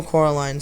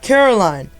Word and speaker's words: Coraline: "No," Coraline said. The man shrugged. "They are funny, the mice. They get things wrong. They got your name wrong, too. They kept saying Coraline, not Caroline. Not Caroline at all."